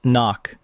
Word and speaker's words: NOC: non-official cover, knock, pronounced knock.